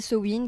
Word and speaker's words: Samhain: voilà c'est ça et du sa main prononcé cewin qui vient des sabats